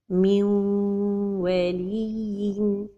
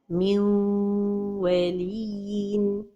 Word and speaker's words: من ولي: The mistake is to pronounce it idgham without ghunna. min waliyin. Or to give time to the idgham but without ghunna. This is also a mistake. من ولي. So the right pronunciation is to give time to the غنة.